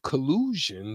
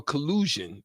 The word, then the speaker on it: collusion: potential some form of collusion that you said co uh rhymes with illusion yep um it could